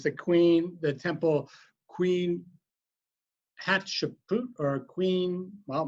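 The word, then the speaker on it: Hatshepsut: queen the temple queen hat shapoot or queen well my friend maggie tells me hot chicken soup that's the way you pronounce it and uh uh queen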